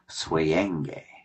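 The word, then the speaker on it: Souyenge: So everybody, her her artist name is spelled s o u y e n g e, but it is pronounced suen.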